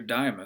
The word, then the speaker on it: Deimos: send objects into orbit Deimos or diamo system actually pronounced is even smaller it's